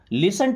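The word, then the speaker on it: listen: लिसन टू मी। देखिए यहां पे टी साइलेंट है।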